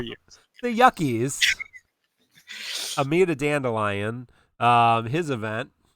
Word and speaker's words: Yuke: It's pronounced Yuckies, right? Oh, is it Yuckies? I thought they called them No, Yukes. I'm kidding. I thought you were gonna roll with it, but they're Yukes.